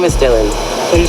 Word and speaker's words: Dylan: Yeah, my name is Dylan. Can you spell it?